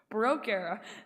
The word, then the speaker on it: Baroque: Baroque era.